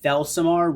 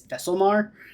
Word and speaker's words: Thelsamar: stream, I have been saying Thelsamar wrong for 20 years. I've been saying it as Thesselmar. And then when I was actually reading the quest for the first time ever, I realized I've been saying it wrong.